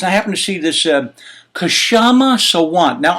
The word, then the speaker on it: Kshama Sawant: And I happen to see this Kshama Sawant. Now, I'm not sure if it's pronounced Kshama Sawant. It's Kshama. There's no vowel between the K and the S. I'm Italian. I need vowels.